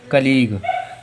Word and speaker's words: colleague: देखो उदाहरण के लिए COLLEAGUE, कलीग।